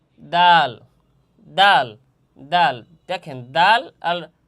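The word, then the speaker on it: دال: জিহ্বার আগা সামনের উপরের দুই দাঁতের গোড়ার সঙ্গে এবং হালকা মাড়ির সামনে লাগাইয়া দাল হরফ উচ্চারণ হবে বা তার মাকাম উচ্চারণের স্থান।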